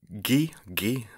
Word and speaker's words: Xi: So that's a click in the very center of your mouth. Oh, dear. So it's Gi. Yeah, Honestly, probably the closest way to pronounce it would just be with a K, just ki.